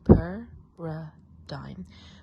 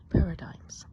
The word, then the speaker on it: paradigm: to pronounce that, but you might say like paradigm, paradigs. How do you say this? Well, the correct pronunciation is paradigm, or in this case with the S, paradigms. So paradigms, that's how you say this word here.